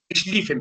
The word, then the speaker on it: Schlieffen: Alemania tenía un plan, o se dice que tenía un plan, el plan Schlieffen, perdón. ¿De acuerdo? La I y la E juntas en Alemania se pronuncia como una I normal.